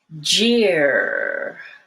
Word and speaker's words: jeer: the way through it the first one has a stop of the airflow jeer while the second one year you keep pushing your air through now jail is a place